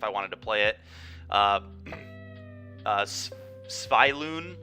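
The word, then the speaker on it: Svyelun: Sviloon. I always have been saying Sylvian, but that's not even remotely close to how to pronounce this, of Sea and Sky.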